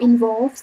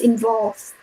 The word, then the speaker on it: involved: And then my job involves that is the R the R sound not the O sound. So we don't say involve it's involved.